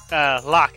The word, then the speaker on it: Locke: It's actually pronounced Locke. I don't know why. It's old habit from when I was used to play it when I first played the game. I called him Loke, but it's actually just Locke.